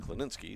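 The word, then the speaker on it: Klinicke: on at first base spells his name k l i n i c ke e and keninsky is how we were told to pronounce it pitch to Miller is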